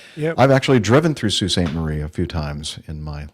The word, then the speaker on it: Sault Ste. Marie: You definitely need to look up the pronunciation because it ain't salt.